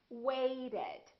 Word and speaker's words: waited: ed listen to this waited waited so this ed has an extra syllable so we actually say wait it however here we don't